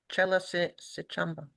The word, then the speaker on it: Chella Sichamba: Okay, so the name is Chella Sichamba. If I'm saying it wrong, I'm so sorry. It's Chella. Last name Sichamba. AMBA. Chella Sichamba. Perfect.